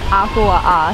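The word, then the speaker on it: humuhumunukunukuāpuaʻa: It's apua'a.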